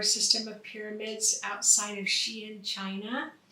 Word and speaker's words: Xi'an: with the star system of pyramids outside of Xi'an, China. It's spelled X I A N.